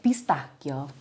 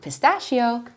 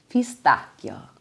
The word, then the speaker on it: pistachio: And two of my favorite flavors are Nutella, not Nutella, Nutella, or pistachio, not pistachio, pistachio.